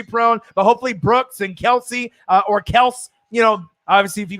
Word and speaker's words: Kelce: But hopefully Brooks and Kelsey or Kels, obviously, if you guys saw the Travis Kelce thing, he says that we've been saying his name wrong this whole time, which is mind-blowing.